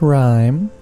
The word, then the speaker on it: RiME: hey how you doing my name is rhyme rhymes with rhyme and uh i want